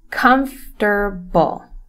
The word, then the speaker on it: comfortable: and the word is comfortable okay the first thing is that this word only has three syllables the first one said like this comes tur Bowl okay comfortable I hear comfortable a